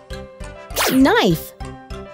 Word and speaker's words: knife: kids what are these words that start with the letter k but the k sound is silent all right listen carefully kids not knife knob miss k that